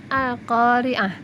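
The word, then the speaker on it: القارعة: Al-qari'atu, dibaca al-qari'ah.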